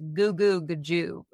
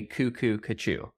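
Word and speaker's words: goo goo g'joob: actually the line is goo goo gajoob. What? Cuckoo cuckoo. Now, cuckoo cuckoo, in my opinion, sounds better, but technically it's goo goo gajoob. I've heard people say cuckoo cuckoo, other than you.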